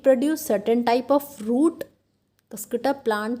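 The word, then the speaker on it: Cuscuta: ये प्रोनाउंसिएशन देख लेना, कसकटा, ठीक है।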